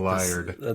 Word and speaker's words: laird: No, that was A like laird. the Scottish pronunciation.